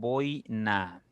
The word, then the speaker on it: boina: Si ustedes pronuncian, se supone que con la O tu boca está un poquito más abierta y cuando llegas a pronunciar la I, tu boca se cierra un poquito.